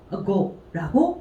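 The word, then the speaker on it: 悟: 그래서 요거는 음독으로 읽을 때 숫자 5랑 똑같아요. go라고 읽어주시면 되겠습니다.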